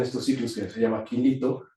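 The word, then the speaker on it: Kilito: ciclos que se llama Quilito, se escribe como kilo, como como un kilo chiquito. Quilito.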